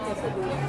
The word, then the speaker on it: quesadilla: So it's Quesa, cream, queso. yeah. Tapos yung dila? Yeah. Dila? Dilia. Dia. Dia? Yeah, the right pronunciation of quesadilla.